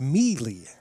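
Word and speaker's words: Meli: And apparently we're pronouncing Melly's name wrong. It's Mealy. The new Goldpanner. I was told by the Goldpanner coaches before the game it was pronounced Melly, but it's Mealy.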